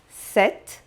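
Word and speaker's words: sept: 7. Observe que não se pronuncia o P, só o T.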